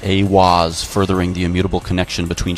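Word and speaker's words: Aiwass: Aleister Crowley meditated inside the Giza octagram and channeled the divinity Awaz, pronounced Awaz, furthering the immutable connection between channeling divinity and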